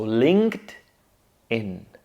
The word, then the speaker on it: LinkedIn: Notice that at the end we have a consonant cluster, a simple one, kd. Linked. Right? Linked. One more time. Linked. And all we have to do after that is say in. So linked in. Linked in. We get rid of the pause and we get a simple and nice LinkedIn.